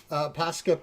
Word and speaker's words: Posca: Posca pens.